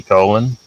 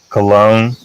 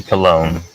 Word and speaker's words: Colon: Cologne. Okay. Yeah, sorry, that was a very unfortunate pronunciation there. Nikki Cologne.